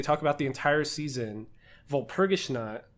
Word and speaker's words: Walpurgisnacht: But this really powerful witch that they talk about the entire season, Walpurgisnacht, I think it's how it's pronounced.